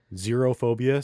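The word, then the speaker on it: xerophobia: one I don't get zerophobia spelled with an x x e r o zerophobia or afid of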